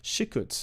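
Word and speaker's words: שִׁקּוּץ: sickest of this is shikuts is how they pronounce it but it looks like sikhis okay so it can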